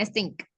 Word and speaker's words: extinct: Ya, bacanya extinct. Extinct. 3/4 population of the animal has been extinct. Jadi kalau ada TINCT itu ya bacanya kayak ink gitu ya.